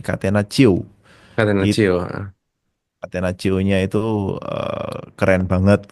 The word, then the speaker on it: catenaccio: Itu catenaccio-nya, apa bacanya? Catenaccio. Catenaccio.